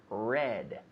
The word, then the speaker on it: read: Yesterday I read. And lately I have read. Now the pronunciation, read and read. Just like the color, red.